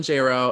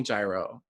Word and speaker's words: Jayro: all i am j rowe everywhere it's j-o-r-d-a-n-j-a-y-r-o it rhymes with j-lo don't call me gyro i'll burn your house